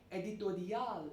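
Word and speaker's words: éditorial: newspaper an editorial or editorial if we pronounce it in the french manner spelling is same it's just that the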